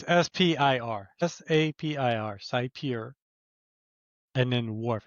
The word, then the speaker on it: Sapir: Sapir.